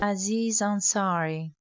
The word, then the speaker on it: Aziz Ansari: Aziz Ansari.